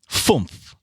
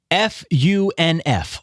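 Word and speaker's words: fünf: Fumpf. Spell that. F-U-N-F.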